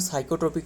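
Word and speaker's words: psychotropic: जो narcotics drugs and साइोट्रोपिक substances है। Narco जो नारकोट्रपिक ड्रग नारकोटिक ड्रग एंड साइोट्रोपिक है ना साइोट्रोपिक मतलब पी एस टू व है ना पी तो साइलेंट लेटर है पता ही होगा साइोट्रोपिक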